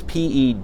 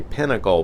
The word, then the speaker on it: peduncle: It's P-E-D-U-N-C-L-E, and some people think I say pinnacle, but it is peduncle.